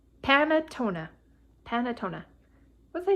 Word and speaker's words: panettone: going to look it up now how to pronounce it it's panatona panatona what's i saying panettone tony oh you guys excuse me uh okay